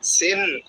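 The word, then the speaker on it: سين: র র ছা ছা সিন সিন সিন সিন আমরা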